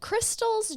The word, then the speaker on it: Christale: um after several years as a dental assistant Crystal actually opened what was called Crystal's Java Hut and I should tell you her name is spelled really uniquely KR i s t y